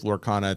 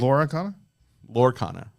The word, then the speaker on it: Lorcana: Lorcana? Lorcana. Yes. That's what I said. 2 syllables, not 3.